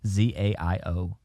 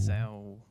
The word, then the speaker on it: Zayo: Zaio. Yeah. Zai. It's like chow with a Z. Zaio. Zao.